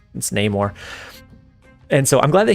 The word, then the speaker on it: Namor: was like, "Hey man, it's not Namor, it's Namor."